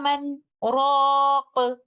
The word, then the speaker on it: مَنْ رَاقٍ: In Surah Al-Qiyamah, ayah number 27, sakt here is required in our way of Hafs like this. وَقِيلَ مَنْ رَاقٍ.